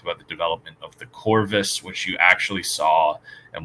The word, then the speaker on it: corvus: off of across the corvus. So, or corvus if we're going to be pronouncing it with the proper Latin.